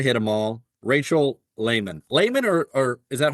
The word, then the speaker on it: Laymon: Laymon, or is that how you say it?